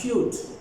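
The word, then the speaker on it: cute: ई लगाने से it becomes क्यूट। क्या बन गया, क्यूट। अगेन ई तो साइलेंट है भाई, ई तो साइलेंट है पर उसने प्रोनाउंसिएशन को पूरा का पूरा चेंज कर दिया।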